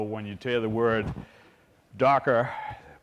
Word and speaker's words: Docker: So obviously, anybody that's never seen me present, you realize that I speak proper English, so when you hear the word Docker pronounced correctly, we even created it, so it's Docker, Docker, Docker.